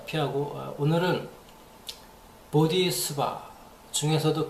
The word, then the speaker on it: bodhi: 반복된 거 다 피하고 오늘은 보디수바 중에서도 그 유명한 보디 산스크리트어 발음으로 팔리어가 아니고 보디입니다. 보디.